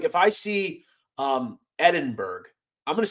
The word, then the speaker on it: Edinburgh: It's pronounced Edinburgh.